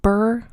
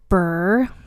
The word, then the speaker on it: Burgh: And I feel like it's pronounced Burr because that's how Lady Catherine de Bourgh is said in Pride and Prejudice. So Edward Burr was slightly older than